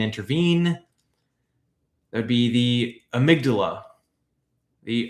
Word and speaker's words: amygdala: That would be the amygdala. The amygdala or amygdala.